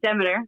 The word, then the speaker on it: Demeter: I don't know if you pronounce it like this in English. Demeter. There you go.